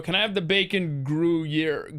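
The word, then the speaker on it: Gruyère: of cheese yeah g-r hold on oh man g-r-u-y-e-r-e i think no now it's gonna be i'm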